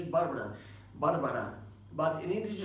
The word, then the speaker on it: Barbara: The pronunciation is Barbara. Barbara. But in English, you say Barbara, you know, in two syllabs. In two syllabs. In Spanish, there are three syllables, but in English there are just two ones, you know.